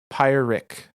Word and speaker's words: Pyrrhic: Pyrrhic. So you were correct about the pronunciation.